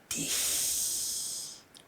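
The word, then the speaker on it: dich: 이렇게 말이죠.이이 이 이말 너를에 해당하는 단어 띠도 마찬가지로 발음합니다. 띠히 띠 그래서 나는 너를 사랑해라는 독일어의 정확한 발음은이 리베디입니다.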